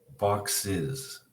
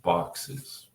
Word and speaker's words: boxes: When you add es to a word, it is never pronounced s. It's never pronounced how it looks. It's always pronounced as if it was the letters I-Z. Is. Bus, buses. Wish, wishes. Box, boxes. Okay, so it's one of those beautiful things about the English language that frustrates us so much. It's never pronounced es, as. It's always pronounced is. Buses and boxes.